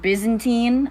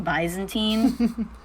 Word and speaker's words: Byzantine: told about like 30 minutes ago that it's pronounced Byzantine I've been saying bantine I thought it was bisontine speaking of Byzantine the Byzantine mosaics were made